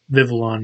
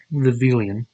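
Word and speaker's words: Vivillon: um these two vivons vivalon not Vilan like I thought this one's supposed to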